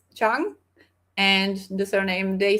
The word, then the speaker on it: Trang: yeah, she's also like it's spelled Trang, but it's pronounced Chang, and the surname they say more like Nguyen, I think.